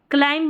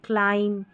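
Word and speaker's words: climb: इसको लैंब नहीं lamp thumb नहीं थंब क्लाइंब नहीं क्लाइम।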